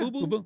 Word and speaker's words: Fubo: But I have Fubo. Am I saying it right? Yeah, Fubo? Yeah.